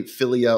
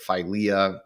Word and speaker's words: philia: love of knowledge um ultimately filia or philia depending on how you want to pronounce it I am not Greek